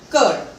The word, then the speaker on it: coeur: COEUR becomes Cur. We will repeat this once again. T, L, M, S, S. The, F, P, S, Cur.